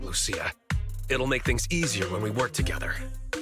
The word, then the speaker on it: Lucia: Oh, it's pronounced Lucia, not Luchia.